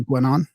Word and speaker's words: Guénon: That's Renee Guenon or Gwenon? Gwenon.